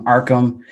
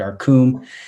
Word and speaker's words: Arkham: I've heard Arkum, I've heard Ham like a deli shop, Rkham like Wreck It Ralph.